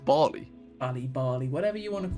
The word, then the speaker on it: Bali: First one is Bali. Oh mate, hang on. I swear it's pronounced Bali.